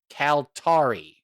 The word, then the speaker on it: Kaltarii: answer was provided by previous guest Steve Trinkle calari which is spelled Ka a l t a r i i and it's pronounced calar arari that's a very nice name all right indeed